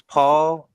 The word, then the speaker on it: Pau: You said Paul. I was like, Paul? my fault. I pronounced I hear you. Pau Gasol.